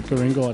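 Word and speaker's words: Guringai: the north shore area it's not with a k as the europeans pronounce it it's with the g so yeah it comes from the goringa mod what's the best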